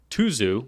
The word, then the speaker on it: Tuzu: with new pen called the tuzu which is the you know Common pronunciation I believe that officially it's short for something that sounds a little bit more like sudu but I'm not going